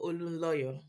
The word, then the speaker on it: Olunloyo: So my name is Olunloyo.